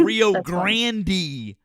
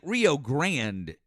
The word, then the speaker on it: Rio Grande: like Rio like this guy this this kid said Rio Grandandy like with a long e. I was like what the No way. Rio Grandandy. Okay, I got it. He spoke Spanish and he still didn't. Wow. That's I was like my I was like, bro, no. No No way. Like I'll take like Rio Grand is how I've always heard everyone pronounce it.